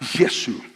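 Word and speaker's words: یسوع: Nadie se llama a Jesús y se pronuncia la palabra Yesu.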